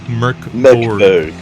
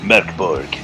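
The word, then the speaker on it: Mörk Borg: But then if you see there, it says Mork Borg is Swedish for Dark Fort, and it's pronounced Mork Borg. Yeah, Mork Borg.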